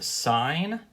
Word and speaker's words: sine: tend to learn about it is called a sign it is spelled s I and E but usually mathematicians just